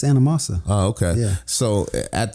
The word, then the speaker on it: Anamosa: And it's pronounced Anamosa. It's not Anamosa. It's Anamosa.